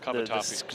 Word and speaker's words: cavatappi: So how do you pronounce the cavatappi pasta? Cavatappi.